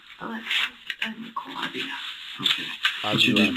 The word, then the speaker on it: Avila: Alexis Nicole Avila. Okay. What's your date of birth? See how she says it? That's how you say it.